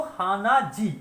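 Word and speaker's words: 鼻血: में ऐड किया तो हाना जी, उसका प्रोनाउंसिएशन हो गया जी।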